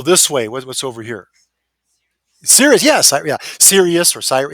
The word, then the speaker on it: Sirius: Sirius, yes, yeah, Sirius or Cyrus, yes, I think some pronounce it Cyrus, but Sirius.